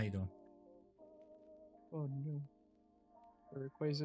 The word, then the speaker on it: Rayquaza: Rayquaza is the correct way to say it, and I've been saying it correctly for a long, long time.